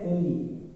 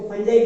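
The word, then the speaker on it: fungi: English में इसको कहते हैं फंगी, पढ़ने में इसको फंजाई पढ़ते हैं, लेकिन रियल जब इसको प्रोनाउंसिएट करोगे आप तो इसको फंगी पढ़ते हैं।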